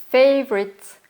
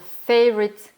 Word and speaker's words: favorite: Pour demander quel est ton pays préféré, on va dire What's your favorite country? Attention à la prononciation de favorite. What's your favorite country?